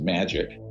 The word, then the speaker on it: MAJIC: So that's where I get into the Majority Intelligence Committee, MAJIC. It's pronounced MAGIC, ironically, or not ironically.